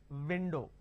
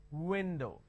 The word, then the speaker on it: window: O for example window I can't say it window it's not window it's window so bite your v's and kiss your W's that is a fundamental difference between the verse sound and the war sound all right let's move